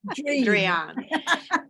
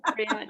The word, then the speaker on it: Dréan: Exactly like that, Dréan, yes. I mean, That's people say Dréan, but you pronounced it very... Dream. Dréan. Dréan, yes.